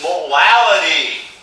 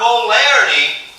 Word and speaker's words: molality: All right, the last thing we need to talk about is molality. Molality, not molarity.